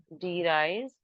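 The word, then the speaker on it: de Vries: so number one वाज डी राइज वी is silent we call it एज डी राइज number two coherence and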